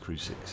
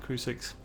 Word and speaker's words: Crucix: the boss fight against cru6 and the twin born um i think that's how you pronounce it crew 6.